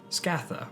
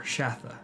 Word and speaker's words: Scatha: Longworms may have been dragons without legs or wings, as indicated by descriptions of Scatha or Shatha. The pronunciation is disputed in the works.